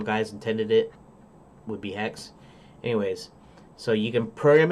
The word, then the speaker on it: Haxe: I usually call it Haxe, because it's HAXE, and that makes the most sense to me rather than saying hex, because it doesn't look like hex, HEX, but it's pronounced like hex.